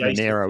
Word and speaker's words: Monaro: monarch monero monero player that's pronounced manero isn't it yeah manero there you go yeah pronounced